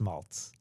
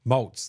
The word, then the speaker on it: Maltz: So So it's malt. It's pronounced malts. Maltz.